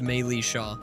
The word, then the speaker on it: Militia: It's pronounced Maylisha.